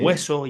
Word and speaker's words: hueso: Sí, Para nosotros, si hay una H y después hay un diptongo, es decir, hay dos letras juntas, unidas en la misma sílaba, como sí. hueso, hielo, ¿vale? Hielo. Se mezclan Vale. con un sonido inicial que parece más, en el caso de hueso, parece más como un sonido W, como hueso, Hueso.